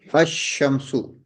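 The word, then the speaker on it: الشمس: Shin ash-shamsu. Lam we will not pronounce here.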